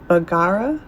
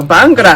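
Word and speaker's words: bhangra: executive meeting room today I'm hoping I'm going to say this right there's a bagara bangara okay good I said it right bangar Workshop which it sounds like dance B bangra bangra bangra There we go bangra I'm listen I'm already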